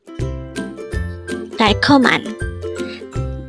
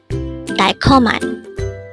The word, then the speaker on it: 달콤한: 달콤한. This pronounces a three-syllable word. The first syllable is dal, second syllable is kom, and third syllable is han. Pronounce it with me. 달콤한. 달콤한.